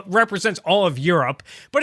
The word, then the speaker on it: gyro: Were you, hearing the word Euro and you assumed it was spelled E-U-R-O? No, I thought it was gyro, and then someone told me it was Euro.